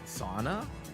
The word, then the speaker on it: Sauna: though finished film was sauna sauna which rhymes with fauna my Hollow live Oshi